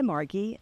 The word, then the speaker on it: Margy: I like to go by Margy, that's with a hard G sound.